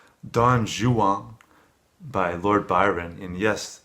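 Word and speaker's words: Don Juan: I think it's it's very challenging it's like dong Xuan by Lord Byron and yes that is the pronunciation I'm told for dong Xuan in England at the time they even pronounced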